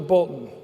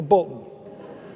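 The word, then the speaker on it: Bulletin: I used to deliver the Bolton that's how we pronounce it the Bolton and uh my brothers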